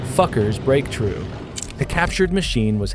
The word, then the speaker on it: Fokker: Chapter 2: Fokker's Breakthrough.